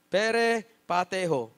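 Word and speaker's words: περιπατέω: ang sabi dito pero per pateo pere pateo yan ang pronunciation niya sa wikang griego okay ang ibig sabihin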